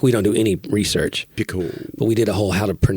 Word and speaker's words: Picoult: But it's Jody, spelled Picoult. Picoult. And I was thinking, Picoult? Picoult? But Johnny was like, I bet the T is not.